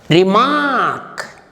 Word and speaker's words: remark: Remark. See here, in 2 places in this word R occurs. R-E-M-A-R-K. The first R is pronounced and the second R is silent.